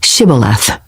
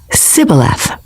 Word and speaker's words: Shibboleth: If the man said, "No, I'm not," they would tell him to say, "Shibboleth." If he was from Ephraim, he would say, "Sibboleth," because people from Ephraim cannot pronounce the word correctly.